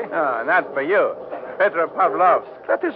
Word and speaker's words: Petropavlovsk: peninsula above them how do you say the name of this pod Petropavlovsk is not hard to say and that for you Petra Pavlov that is right hey